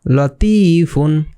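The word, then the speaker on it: لطيف: তো এটার উচ্চারণটা কিভাবে হবে? লতিফুন।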